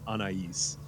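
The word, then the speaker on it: Anaïs: And I have been saying her name wrong all the time, because the correct pronunciation is Anais. Yep. So I will do my best to say it Anais from here on.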